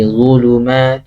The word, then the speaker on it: ظلمات: Dha, pengucapan dha itu mirip sama za. Za ya. Za, kalau za kan gini ya. Dha juga sama, tapi lidahnya ke diangkat dikit ke atas. Ya. Punggung lidahnya ke atas.